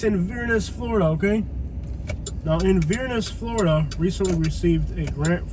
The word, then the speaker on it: Inverness: Look, I know how the locals pronounce it, okay? It's Inverness, Florida.